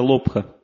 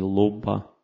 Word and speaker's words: лобха: Следующий враг человека называется лобха. Или лобба. Там иногда ха не произносится в санскрите. То есть там придыхательный звук ха. Лобба.